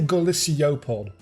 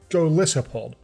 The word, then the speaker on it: Golisopod: I always want to say Golisiopod, but it's a Golisopod.